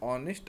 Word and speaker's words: honest: So if we make pronunciation of this word honest hour, we can feel that h is silent.